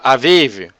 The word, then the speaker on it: Aviv: Em hebreu seria pronunciado Avive.